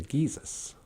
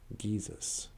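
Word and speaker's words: giizis: And Geesis is known the sun is known as the Geesis. Geesis. I remember when I first was reading Ojibwe, and I didn't understand the G's are always pronounced with a G.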